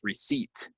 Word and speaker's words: receipt: same as this word this word is receipt it has a silent P we do not say the P so get that out of there right so maybe you're